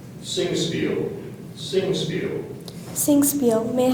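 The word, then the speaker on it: Singspiel: there any alternate pronunciations there's one zingi may I have the part of speech please it's a n could you repeat the word please singiel or zingi sing Spiel sing Spiel s i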